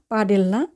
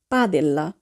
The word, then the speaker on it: padella: পাদেল্লা বানানটির দিকে যদি আমরা খেয়াল করি তাহলে আমরা দেখব যে এখানে ডি সেটি ইটালিয়ান বর্ণমালায় উচ্চারণ হয়েছে দয়ের মতো। তাহলে আমরা বলবো না পাডেল্লা, আমরা বলবো পাদেল্লা অর্থাৎ ডিকে দয়ের মতো উচ্চারণ করতে হবে।